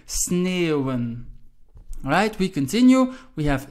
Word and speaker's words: sneeuwen: Just notice the E, and the U. So the three vowels which follow one another, you pronounce as eeuw, sneeuwen.